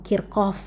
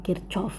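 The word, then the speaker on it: Kirchhoff: Ya, ini bacanya hukum Kirkov bukan hukum Kircov ya.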